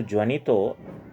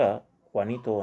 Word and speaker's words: Juanito: ಇದು ಜ್ವನಿತೋ, ಇದನ್ನು ಉಚ್ಚಾರ ಮಾಡುವಾಗ ಕ್ವಾನಿತೋ ಅನ್ನಬೇಕು.